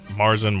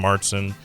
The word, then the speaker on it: Märzen: Marsen, Martson, um, depends on where you're at, how to say it.